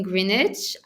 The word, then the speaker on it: Greenwich: to be yeah it's under eight in greenwich i really i i'm pretty sure i'm i'm not spelling it like pronouncing greenwich connecticut yeah you're right you got